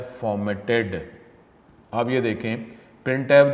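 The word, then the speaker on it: printf: यूज to display output it is pronounce as प्रिंट F syntax क्या है प्रिंट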